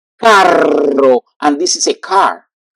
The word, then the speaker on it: carro: But yeah, but if you don't pronounce well, you can mix between caro and carro.